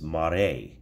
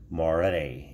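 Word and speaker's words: מראה: Okay, now, second term that we find in the Old Testament for upon is mare. Mare, and it's spelled M-A-R-E-H, and it means sight or appearance or the vision or view, i.e.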